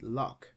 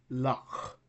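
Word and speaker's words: loch: In English, we pronounce it lock, but in Scottish, it is pronounced lock, lock, lock. It's like a uvular fricative sound.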